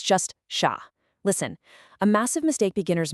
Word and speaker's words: chat: And for chat, the T at the end, totally silent, unless it's followed by a vowel in specific liaisons, so here it's just sha.